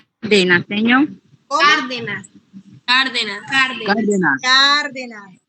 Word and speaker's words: Cárdenas: Cárdenas. Tiene tilde, entonces el acento va en la A.